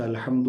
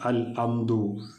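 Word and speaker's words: الحمد: അൽ ഹംദു പ്രത്യേകം ശ്രദ്ധിക്കേണ്ടത് ഹംദ് ഹംദിലെ നമ്മൾ നേരത്തെ പറഞ്ഞതുപോലെ ഹാ എന്നുള്ള അക്ഷരമാണ് അൽ ഹംദു അൽ ഹംദു എന്നൊന്നും ആയി പോകാതെ അത് ഹംസയോ അല്ലെങ്കിൽ ഹാവോ ഒന്നും ആയി പോകാതെ അൽഹംദു ഹാ എന്നുള്ള ഉച്ചാരണം കൃത്യമായിരിക്കണം പിന്നെ അൽഹംദു അവിടെ ദാൽ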